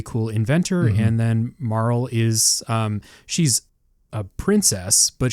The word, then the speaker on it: Marle: How do you guys say her name? Marl? Marley? No, it's Marl. I say Marl.